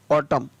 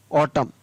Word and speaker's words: autumn: AUTUMN, तो इसको पढ़ेंगे ऑटम, क्या पढ़ेंगे? ऑटम, तो यहाँ पर भी ये N है वो साइलेंट है, इसको नहीं पढ़ा गया।